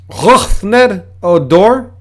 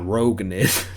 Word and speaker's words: Rougned Odor: Rougned Odor. Yeah. And that's a perfect pronunciation, so you can go tell our friends. Rougned Odor. Roughned. It's not Roganid.